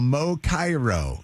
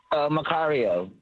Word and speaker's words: Macario: Is that Mo? really your name, Mo Cairo? Macario. Oh. Oh, my gosh. Person alive. Lydia has it spelled phonetically up here. Mocario. Mo Cario is on with us right now. All right. Yes, Macario.